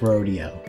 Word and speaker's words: Rodeo: video rod's pretty ugly rodeo i know it's rodeo why is he a wizard that's so weird